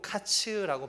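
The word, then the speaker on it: קיץ: 근데 사실 이거는요, 이 성경에 흔히 나오는 문법 중에 하나인 워드플레이인데요, 이 여름과일은 히브리어로 카츠라고 발음을 합니다. 그리고 멸망은 케이츠라고 발음을 하죠.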